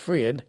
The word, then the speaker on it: Friend: name is friend friend spelled like friend but pronounced freend wood Mr wood so